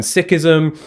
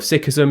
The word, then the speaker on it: Sikhism: It comprises also Buddhism and Sikhism, which is correct pronunciation of Sikhism. It is not Sikhism. Yeah, it's not like let's go hide and play Sikh.